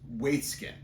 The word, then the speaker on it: Waitzkin: I had to Google pronounce this, so it's Waitzkin.